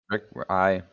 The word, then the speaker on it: RYK: So, is it Rick or RYK? Is that how you say it? Yeah, Rick, RY, whatever.